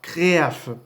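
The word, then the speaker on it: Kreeah: Donc, il faut savoir que le rugissement de Muto Prime, ça se prononce par créaf. Donc, ça s'écrit avec un K, R, 2 E, A, H.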